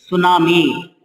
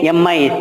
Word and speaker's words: tsunami: Tsunami. Tsunami. T is silent here.